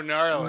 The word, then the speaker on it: gnarly: huh the gnarly one oh gnarly gnarly no no no with a silent okay so i haven't